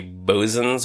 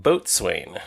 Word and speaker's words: boatswain: Uh, this whistle is called a Bzan's whistle. Uh, some places spell it the way that it's pronounced B O